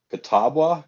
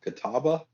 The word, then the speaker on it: Catawba: uh it's a brewery called i'm going to pronounce this wrong catawba catawba c-a-t-a-w-b-a uh brewing company so they're in uh